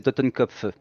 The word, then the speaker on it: Totenkopf: non, si on le fait à l'allemande, c'est Totenkopf. Mais d'accord. voilà, on peut la prononcer à l'allemande d'ailleurs, ça aurait du sens, puisque c'est un Ok.